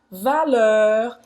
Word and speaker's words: valeur: Então, valeur, esse aqui, essa parte aqui, ó, a pronúncia vai ser...